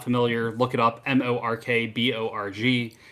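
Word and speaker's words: Mörk Borg: familiar look it up m-o-r-k-b-o-r-g it's just right we found out we were both saying it wrong the whole time there there's all sorts of different ways that people say it sometimes i'll say mork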